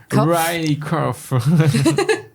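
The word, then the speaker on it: Riley Keough: La prononciation est une catastrophe. C'est Riley Riley Kof.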